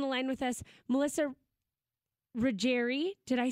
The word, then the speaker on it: Ruggieri: Melissa Melissa's on the line with us Melissa reri did I say it right you did you